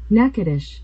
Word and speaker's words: Natchitoches: Natchitoches. Okay. I'm going to say Natchitoches. And then how do you say it, old Google thing? Natchitoches.